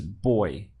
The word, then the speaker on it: voy: Remember that in Spanish, this V sounds like a B. So the pronunciation of this is boy.